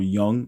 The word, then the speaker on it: Jung: Same thing Carl Young or Jung. I I was told that it was Carl Young and that J is pronounced like a Y, but whatever.